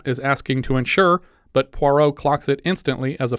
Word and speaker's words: Poirot: the building, and he's introduced as Hercules Parrot by the office secretary, but corrects the woman's pronunciation. Poirot, mademoiselle, pucker your lips, as though about to bestow a kiss.